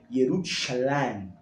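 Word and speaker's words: ירושלים: Jerusalém, né, em hebraico, se pronuncia Yerushalayim, que é Shalem, uma designação, uma variação de Shalom.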